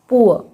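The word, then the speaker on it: poor: जब किसी शब्द में दो ओ के बाद आर होता है तब उसका उच्चारण ऊ होता है। एग्जाम्पल्स पुअर, देखिए डबल ओ के बाद आर है तो यहाँ पे डबल ओ का साउंड ऊ होगा और जो लास्ट का आर है ये साइलेंट होगा। प ऊ, पुअर।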